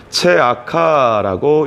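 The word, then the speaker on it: צְעָקָה: 정의는 히브리어로 미슈파트라고 하고 포악은 미슈파흐라고 합니다. 그리고 공의는 체다카라고 하는데 부르짖음은 체아카라고 읽습니다.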